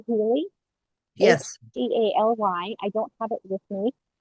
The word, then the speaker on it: Healy: Healy, Healy. Oh, Heal with a Y. Healy.